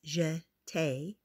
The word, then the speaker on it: jeté: We jeté, you say it like this, jeté.